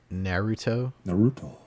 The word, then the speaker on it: Naruto: it's pronounced Naruto.